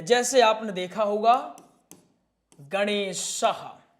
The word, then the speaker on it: गणेशः: जैसे आपने देखा होगा गणेशः और ये उच्चारण किस में होता है? ए ह में उच्चारण होता है। किस में? ह में उच्चारण इनका होता है। गणेशः इसका उच्चारण ह में।